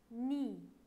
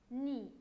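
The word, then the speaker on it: nid: Et on a encore ni. Ici, on ne prononce pas le D. On dit ni. N-I seulement.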